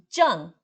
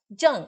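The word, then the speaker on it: 站: Jan. Jan, ele é quarto tom Z-H-A-N.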